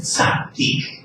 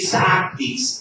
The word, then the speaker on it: tzaddik: Es tzaddik. Sí, tzaddik. T-S-A-D-D-U-I-Q. Sí, repito, tzaddik. T-S-A-D-D-I-Q.